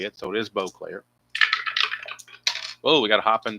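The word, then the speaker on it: Bruce Boisclair: For the longest time, I pronounced it Boyclair, but then I was told it was Bclair a couple years ago.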